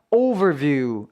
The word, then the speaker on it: overview: 아 그런 표현이 되죠 참고적으로 여기서는 이제 over 해서 앞에 강세가 있고요 View 부분은 장모음 있니다가 아니라 overview viw 소리가 길어져야 되니까 요거까지 신경 쓰시면서 또박또박 overview라고 발음 해주시고요 마지막 단어는 조금 길어요